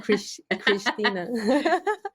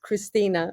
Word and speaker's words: Cristina: Oh, I like how it sounds in Portuguese, Cristina. How do you pronounce it? How do you pronounce it? More like Cristina, but I like the Portuguese.